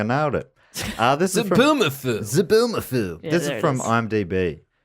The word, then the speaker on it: Zoboomafoo: Thanks, Zoboomafoo.